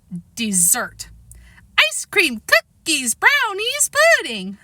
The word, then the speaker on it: Desert: Southwest Harbor is on an island called Mount Desert. She pronounced it dessert.